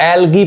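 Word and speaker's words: algae: देखिए अब यहां पे इसको एलगी पढ़ते हैं इसको एल्गे ई नहीं कहते हैं ये ए साइलेंट होता है एलगी समझ में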